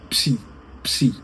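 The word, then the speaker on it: ψῖ: Entonces, primero la P y luego la S, como si estuviéramos pispeando, ¿no? Entonces, ese es psi psi, la consonante psi.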